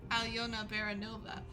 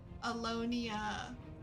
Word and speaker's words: Alyona Baranova: Unless it's Alyona Baranova. That's not hard. Just phonics. Read, okay? It's not that hard. I don't want to hear no Alonia, okay?